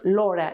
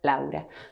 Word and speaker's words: Laura: other possible pronunciation and the same with my name a sin father a sin louder my name is not Laura in Spanish but louder okay number two Masuka